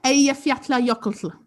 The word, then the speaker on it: Eyjafjallajökull: But yeah, it's very confusing because there's two double L's in the name. And I learnt double L in Iceland is like LT. It's like lt.